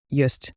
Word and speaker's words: ёсць: Here the yo in yest. It's like yo plus s h c h soft s.